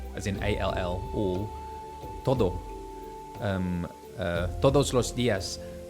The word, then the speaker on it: todos: Todos los días. If you don't say the D strong enough on the T-O-D-O-S, todos, it sounds like to them you're saying toro.